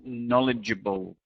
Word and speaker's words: knowledgeable: And the final one is knowledgeable. There's quite a lot of syllables here, but remember the stress is on the first syllable.